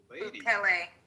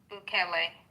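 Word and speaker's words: Bukele: Is this name Boule, the president? Boule. Huh? Boule.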